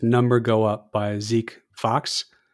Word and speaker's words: Fox: I think the better book is number go up by Zeke Fox. Number go up. Okay. Zeke F Aux, but I think it's pronounced Fox.